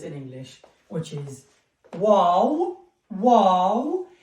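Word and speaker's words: واو: And last two letters in English, which is wow, wow. The name of the letter, it's exactly as you say in English, wow.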